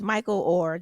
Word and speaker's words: Michael Oher: you know in the news right now is Michael Oher that is how you say his name yes